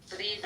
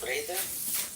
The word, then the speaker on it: vrede: Vrede, Okay. vrede. Brede? Vrede, yeah, bro. Brede. Vrede, like, bro, I write it. Spell it, yeah. Vrede with a V.